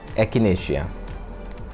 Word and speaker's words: echinacea: दोस्तों another very important medicine is एकिनेशिया। एकिनेशिया, ठीक है, इसके ऊपर भी अलग से वीडियो है, देख लीजिएगा। Some even pronounce it as echinacea, both are correct.